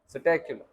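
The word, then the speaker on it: Psittacula: P silent, स्टैक्यूलो।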